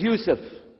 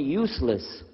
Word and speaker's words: Yusuf: work on it inallah my name is Yousef can you say Yousef you say Yousef you're very good I wish you teach my wife wife she keeps mispronouncing it she calls me useless alhamdulillah now how many